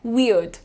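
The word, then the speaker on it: weird: वियर्ड वियर्ड अड अड पे रुको ठीक है आर पे ध्यान मत दो आप क्या बोलना है वियर्ड वियर्ड प्रॉपर वी और अड वी और अड ये तुम्हारा इंडियन एक्सेंट में भी यही प्रोनाउंसिएशन है वियर्ड ठीक है वियर्ड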